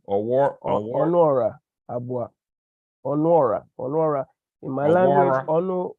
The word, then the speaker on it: Onuora Abuah: How you pronounce the name? Onuora Abuah.